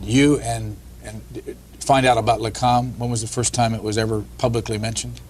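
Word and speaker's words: LAKAM: I know I'm not going to pronounce this right. LACAM? Yes, that's Is that right. Yes. That's the Science Liaison Bureau, or the Israelis called it LACAM, which protected the nuclear secrets.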